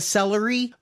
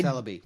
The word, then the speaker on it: Celebi: All the games I've played, I've never played a celery, but I Celaby. Celibby.